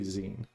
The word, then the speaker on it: zine: It's pronounced magazine, so it should be zine.